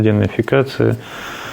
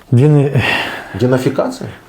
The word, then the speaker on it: денацификация: это, как сказать, демилитаризация, денацификация. Как второе слово? Денафикация? Ну, это, забыл, как оно правильно произносится, это, да.